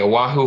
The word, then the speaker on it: Oahu: He's a real estate investor over in Oahu, Hawaii. Did I say that right? Is that how you say it? You're repping from Hawaii, Oahu, Hawaii.